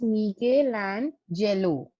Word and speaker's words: Michelangelo: The name is Michelangelo. Michelangelo. Fine. The pronunciation of the word is Michelangelo. Fine, everyone. The pronunciation is, I'm again repeating, Michelangelo.